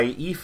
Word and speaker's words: Aoife: Their names look like Aoife and, what is it, Skatach? Their names are actually pronounced Aoife and Skahak.